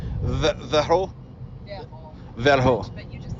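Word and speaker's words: Verreaux: So So Verro. X is not Usually not pronounced. it's silent.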